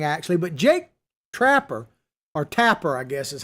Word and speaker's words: Tapper: was pretty interesting actually but jake trapper or tapper i guess is how you say his name